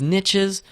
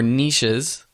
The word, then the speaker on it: niches: to my next point which is niches or niches I've heard both pronunciations niches have quit the